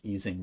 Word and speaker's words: Ising: this being called the ising model and people might pronounce this differently it might be called like easing model as well but basically it's a